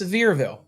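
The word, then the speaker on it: Sevierville: Seversville. Or is it Seversville? It's Severville. There's a way y'all like it to be pronounced.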